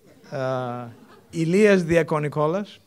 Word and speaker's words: Ilias Diakonikolas: Inevitably, there is going to be a Greek guy, Ilias Diakonikolas, this is how you pronounce it, assistant professor in computer science with